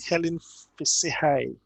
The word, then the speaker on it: Hellen Fissihaie: someone very interesting um her name is helen helen say hi is that how your name is pronounced pardon me please yes you did great